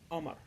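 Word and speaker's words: قمر: We do not pronounce the letters th, the, and qa. For example, the word qamar means moon. We pronounce it as Amar.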